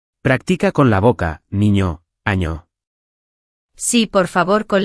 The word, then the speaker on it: niño: Otra cosa súper importante antes de empezar, la pronunciación de la ñ. No es una N normal. Suena como en guay, como en niño, España, año. Practica con la boca, niño, año.